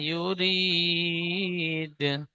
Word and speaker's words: يريد: را يا دال زير ري ফাআলুল lima ইউরিদ।